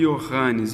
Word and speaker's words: Johannes: Mas a pronúncia, isso pulverizado pela Europa toda, esse Johannes vai acabar grosseiramente sendo reduzido a I ao invés de J. O correto seria SJ.